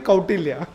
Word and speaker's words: Kautilya: And he said, Kautilya nahi, Kautilya. So the world expert on Chanakya did not even know how to pronounce Kautilya.